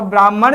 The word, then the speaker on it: ब्राह्मण: और ब्राह्मण जो है वो म के बाद ह का उच्चारण नहीं होता है। ह के बाद म का उच्चारण किया जाता है और हमारे जो है विद्यार्थी इसमें भ्रमित हो जाते हैं।